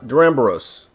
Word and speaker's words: Duramboros: title or thumbnail or even on here uh deramboros the ram ball yeah i said it right